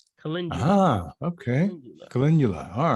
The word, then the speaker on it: calendula: mind it's popped in my mind it's called calendula calendula ah okay calendula all right calendula c-l-e-n-d-u-l-a yeah